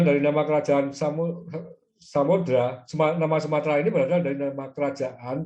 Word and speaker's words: Sumatera: Untuk menyesuaikan dengan bahasa Melayu, bahasa Indonesia adalah bahasa Melayu, tidak ada huruf T dan R yang nyambung ya, harus diisi E di tengahnya, sehingga menulisnya adalah Sumatera, walaupun bacanya Sumatera.